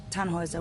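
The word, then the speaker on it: Tannhäuser: why what's your name tanhauser we'd pronounce it tanhoiser with an umlaut German roots yes my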